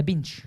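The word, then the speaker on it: Bintje: adulte national géographique quelle variété de légumes la Binch B n t la Binch c'est hyper facile mais je savais pas moi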